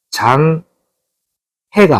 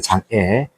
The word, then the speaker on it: 장애: 시력 장애입니다 시력 장애 중요한 거는 장 해가 아닙니다 장애입니다 장애 7번은 화상 뇌진탕 익사